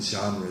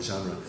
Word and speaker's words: genre: know the word genre maybe the pronunciation sean roe again when i went over this last night they said okay can you pronounce that again genre genre it's i have i didn't google it i didn't research it but it's gotta be a French word i'm almost positive it comes from french origin that g as